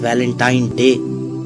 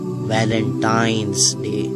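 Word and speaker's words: Valentine's Day: है अब आप इस वैलेंटाइन डे के नाम पर गौर करें इसे जो आम कहा जाता है यह वैलेंटाइन डे है लेकिन हकीकत में जो इसका प्रोनाउंस एशन है वह है वैलेंटाइंस डे यह एक वैलेंटाइन वाला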